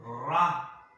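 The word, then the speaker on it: רע: Esta palabra, hermano, que le voy a decir, se pronuncia ra. Es R-A-H en hebreo.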